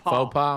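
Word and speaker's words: faux pas: Scott, or is it fauom? How do you say it? Faux faux pa.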